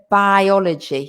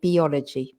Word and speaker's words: biology: imitate all the time also the pronunciation of biology because a lot of people say biology but it's biology biology physics chemistry foreign